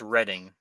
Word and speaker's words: Reading: there's a town that's spelled reading but it's pronounced reading reading right reading well you know how I